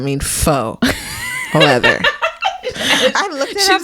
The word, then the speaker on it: faux: you're gonna crack up I learned that foe is pronounced faux not Fox foreign because I'm pronouncing things